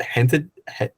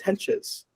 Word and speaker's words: Hentges: I'm saying, is it Hented? Oh, no, it's Hentges. Henches.